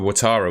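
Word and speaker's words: Ouattara: there's potential that Ahmad cver seeno and even watara with the game he's just had you could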